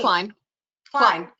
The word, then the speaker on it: Klein: Clean? Am I saying it right? Clean. Klein.